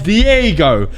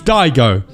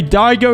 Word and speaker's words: Daigo: Now this, guys, his name's been mispronounced many times as Diego, but I'm gonna tell you guys, it's Daigo. Okay, Daigo is how you pronounce it.